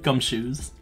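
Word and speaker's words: Gumshoos: you spell it g-u-m-s-h-o-o-s exactly how it's spelled it sounds gum shoes I don't know the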